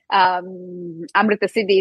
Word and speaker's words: Amrtasiddhi: And usually it's a hard word for people to pronounce. Amrtasiddhi, it's not an easy way.